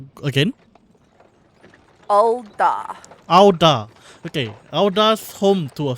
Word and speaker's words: Ul'dah: How would you pronounce? Again? Ul'dah.